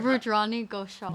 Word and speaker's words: Rudrani Ghoshal: You guys are say your name so people Rudrani Ghoshal.